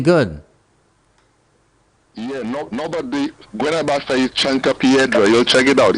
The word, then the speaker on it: chanca piedra: You give me a name there, Chanta Piedra? Chanta Piedra. Oh, that's what is that? Chanta Piedra. Is that Latin or Spanish? Guenabasa. Chanta. I think it's Spanish. Chanta Piedra. Chanca Piedra. Oh, Chanca.